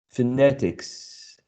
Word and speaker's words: phonetics: And the explanation says that if it contains any of these suffixes, stress usually falls on the preceding syllable of the suffix. On the preceding syllable of the suffix. Cautious, phonetics, ambition, right?